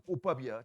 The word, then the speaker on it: 꽃밥: 발음 조심하세요. 꽃밥이야. 지읒밥 아니야.